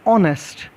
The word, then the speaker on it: honest: h की sound silent होगी बच्चों. जैसे हम एक वर्ड है honest, HONEST, हम उसे बच्चों उसमें हम क्या साउंड यूज़ करते हैं, ओ साउंड यूज़ करते हैं, ऑनेस्ट.